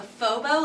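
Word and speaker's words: faux beaux: no idea what yeah how is it spelled like phone it's spelled like f a u x b e a u x s i would say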